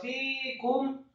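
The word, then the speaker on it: فيكم: Kata fikum, fa-nya yang kasrah 2 harokat, kemudian kafnya marfu atau dhammah 1 harokat, kemudian mimnya disukunkan. Fikum ahadan, fikum a.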